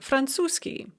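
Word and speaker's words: французский: is pronounced arapskiy or franzuski french is pronounced francoski so it's very common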